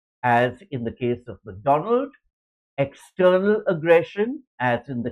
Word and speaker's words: Macdonwald: That's MacDonald pronounced with a W.